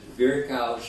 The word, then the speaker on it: Virchow: Westernized, I guess it's pronounced as Virchow's triad, as we know him, but it's Virchow.